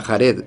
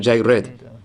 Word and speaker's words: Jared: Esa guía cambia con el pasar de los años. De hecho, en la primera guía no era Jared, sino Jaired.